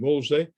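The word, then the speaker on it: Wolseley: dejoylesley an estate and the wellesley now pronounced their name woolsey um and uh they've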